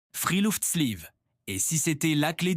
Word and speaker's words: friluftsliv: Freel sleeve. Et si c'était la clé du bonheur ? C'est quoi le Freel Sleeve ? Freel Sleeve, ça se prononce Freeoft Sleeve.